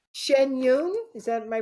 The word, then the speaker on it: Shen Yun: It's Shen Yun. Is that, am I pronouncing it correctly? Shen Yun.